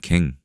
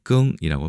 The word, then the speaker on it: 羹: 구성 요소로 많이 사용됩니다 우리나라는 갱 장음이고 1급에 해당되고 중국에서는 끙이라고 발음합니다 간체 번체 차이가